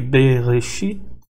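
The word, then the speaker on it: בְּרֵאשִׁית: Primeiramente, o Shuvá é pronunciado no início de uma palavra, por exemplo aqui, Bereshit, Bereshit, Bereshit. Esse B é pronunciado.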